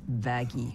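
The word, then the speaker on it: Vaggie: after the best thing ever what actually it's pronounced vaggy whoa whoa whoa whoa whoa whoa whoa whoa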